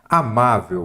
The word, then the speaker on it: amável: Amável, vamos lá? Amável. Qual que é a sílaba tônica? Paroxítona. É a penúltima.